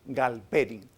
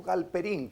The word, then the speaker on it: Galperin: Y la otra teoría, la teoría de la actividad de Alexei Galperin, o Galperin, como prefieran pronunciarlo.